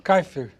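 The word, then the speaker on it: Kaefer: a pronúncia do seu nome é kifer ou kaifer kaifer k Senhor me desculp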